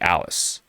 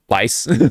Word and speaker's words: Alice: Um that character is officially Alice. No, the the a is silent. Lice just lies. Not lice.